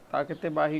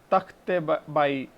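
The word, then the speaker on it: Takht-i-Bahi: ताकते बाही commonly mispronounce as तख्ते बाई।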